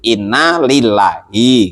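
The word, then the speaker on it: إنا لله: Kadang kita dengar tuh orang bacanya terbalik-terbalik. Inna ilaihi wa inna ilaihi rojiun. Enggak ada yang seperti itu. Inna lillahi gitu ya.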